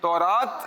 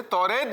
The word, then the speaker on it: تورات: تورات اس کا تلفظ ہے, توریت بھی کہا جاتا ہے. اچھا توریت, لیکن اس کا جو اکثر تلفظ ملتا ہے ہمیں تو وہ تورات ہے.